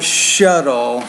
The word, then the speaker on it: shuttle: in late October and the word shuttle it's more shuttle you ought to worry about pronouncing that T there that's the flap sound I was telling you about now the other thing